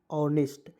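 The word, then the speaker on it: honest: लिखते हैं एच ओ एन ई एस टी ऑनेस्ट यहां पे डी आई एस लगा दिए तो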